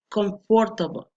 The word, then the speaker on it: comfortable: The or R after F could be pronounced with a schwa sound. Comfortable, comfortable, comfortable, comfortable. But it often isn't pronounced at all. You lean directly from the F to the S.